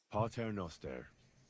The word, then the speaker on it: Pater Noster: Pater Noster.